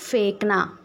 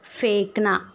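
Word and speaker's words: फेंकना: பொருளை எரியுறது இல்ல வீசுறது அதை ஹிந்தில ஃபேக்னா ஓகே ஃபேக்னா அந்த இன் வந்து சைலெண்ட் ஓகே ஃபேக்னா வீசுவது ஃபேக்னா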